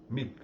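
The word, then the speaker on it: mihi: há ligeiríssimos poucas exceções uma delas da palavra mic eh que se fala com um um pequeno como se fosse um som rápido de k ex que se diz V mic ou seja Ai de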